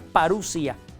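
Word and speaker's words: παρουσία: Se escribe parousía, se pronuncia parusia.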